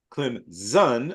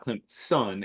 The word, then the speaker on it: Clemson: Canada always remind you it is clim zun almost as if it were Z not clim Sun as in as a big ball of gas they go with the Z pronunciation CL that's like the